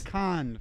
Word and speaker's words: Cannes: So you're both pronouncing it wrong. It's Cannes. It's the Cannes Film Festival.